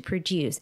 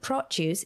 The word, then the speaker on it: produce: So we have the stress in the second syllable to produce, and produce is noun. So the stress falls on the first syllable.